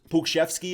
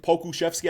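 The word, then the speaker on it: Pokuševski: dang good that uh pukeshevsky i believe pokushevsky i think is how you say it he's been looking like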